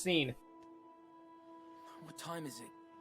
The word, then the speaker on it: Sean: up Sean its seen look at the way it's spelled kid it's pronounced seen what time is it